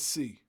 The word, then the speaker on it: Esz: Pronounce it like the letter, I don't say it at all.